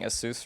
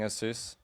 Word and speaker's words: Asus: he thought his idea was because he's always been saying Asus wrong, Yeah. and so he thought he'd go around filming people saying Asus.